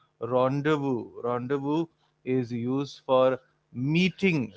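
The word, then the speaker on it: rendezvous: So people would generally pronounce it as rendees was but then the way it is pronounced actually is rendevu.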